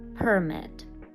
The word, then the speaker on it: permit: Permit. Наголос на перший склад.